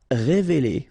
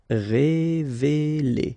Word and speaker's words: révéler: Révéler. Okay, same scenario here. E and E. Révéler.